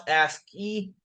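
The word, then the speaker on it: ASCII: into an intro to asky values right so pronounce asky aski stands for American Standard code for information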